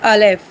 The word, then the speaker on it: الف: तो जब हम इसकी प्रोनाउंसिएशन करेंगे तो क्या होगा? अलिफ। अलिफ ज़्यादा किस पे डिपेंड है हमारा वर्ड? लिफ पे।